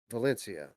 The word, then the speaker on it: Valencia: that again with the correct uh the chronic pronunciation the playstation talents games valencia so um this is one of their um